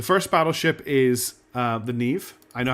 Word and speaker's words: Neve: The first battleship is uh the Nev. I know how to pronounce Neve.